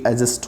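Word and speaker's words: adjust: ये इसका सही ट्रांसक्रिप्शन है, डी साइलेंट होता है तो ये एडजस्ट होता है।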